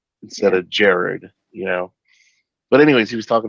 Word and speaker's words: Gerard: it's his name's actually pronounced Jared, but Yeah. we always do the hard R at the second vowel, so everybody in America calls him Gerard, Yeah. right? Instead of Jared, But anyways, he was